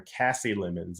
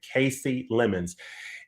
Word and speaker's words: Kasi Lemmons: a film that is of course directed by Casey lemons so I I think in previous View in previous videos I called her Cassie lemons and then in going through the special features